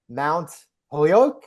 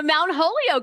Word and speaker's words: Mount Holyoke: uh obtaining your back bachor in history at Mount poo am I pronouncing that's right I'm trying oh Mount Holio okay we're going way back all right yes